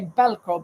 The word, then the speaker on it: Velcro: Okay, here they say Velcro, but I guess they write it the same way, but the V is pronounced B very often.